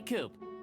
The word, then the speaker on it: Coop: you can call me coop coop that rhymes with scoop i think we're gonna